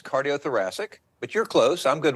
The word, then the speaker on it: cardiothoracic: Thank you, first of all, for having me here, but it's cardiothoracic.